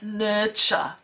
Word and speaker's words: nurture: you pronounce that yeah so the pronunciation is quite different to the spelling isn't it nurture well done so look